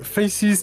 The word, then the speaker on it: Faces: associée à Brigandine, de Faces qui en fait se prononce face, les amis, je viens de l'apprendre hors caméra.